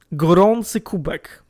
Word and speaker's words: Gorący Kubek: He's called Gorący Kubek. That's how we pronounce it.